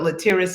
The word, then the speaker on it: Laterras: It's my distinct pleasure to introduce to you Laterras. I'm sure people pronounce his name and has all kinds of pronunciation, but Laterras is the right one, Laterras.